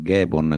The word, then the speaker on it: Ghemon: cercare le tue cose, mi chiamo Gaemon, e come si scrive? Come lo pronunci? Quindi G-I come no, G-E, no, come lo pronunci? G-H, e niente, quindi sì, ho dovuto fare il facilitatore.